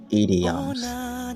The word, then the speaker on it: idioms: Try not to say idioms, because that is the way a lot of people say it in Nigeria, and it is not correct. The correct pronunciation is idioms.